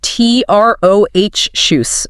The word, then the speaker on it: atrocious: It's uh t r o h shoes. Stress on that second syllable.